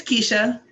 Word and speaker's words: Keshia: It's Keshia.